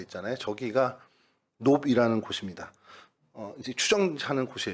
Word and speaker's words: 놉: 오늘 저희가 살펴볼 성경의 장소 도움은 놉이라는 곳입니다. 히브리어는 노브라고 이렇게 발음을 하기도 하는데요.